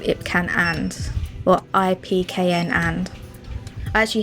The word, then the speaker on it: IPKN: So this is Ipcan. I believe you pronounce it as Ipcan. They make very good powders, but these are like more affordable versions. This is why it's called Ipcan or IPKN and.